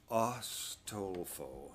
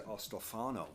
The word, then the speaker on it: Ostolfo: Ostolfo. It's so easy to say Ostolfo. I want to say Ostolfano. I don't know why I keep seeing an N in it. There's no N.